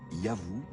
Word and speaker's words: YHW: Ce nom, qui devait se prononcer Yahvou, était sans doute celui de leur dieu protecteur.